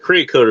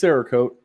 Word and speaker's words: Cerakote: I always called it Creocote or something like that. No, it shows you how much I know. It's Cerakote. It's like ceramic coating.